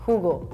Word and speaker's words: jugo: In Spanish it's written as it's spelled based on the rules, so like the J is the H sound, jugo, it looks like jugo.